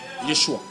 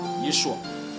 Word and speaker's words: Yeshua: Jésus-Christ de l'hébreu, ça dit ou ça donne Yeshua, qui s'écrit, je crois bien, avec.